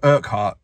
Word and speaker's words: Urquhart: So, when I couldn't pronounce the name of the castle, now I can. It's called Urquhart.